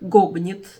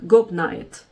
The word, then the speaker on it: Gobnait: Имя этой святой по-ирландски звучит как Гобнит. По-английски ее имя произносится как Гобнайт.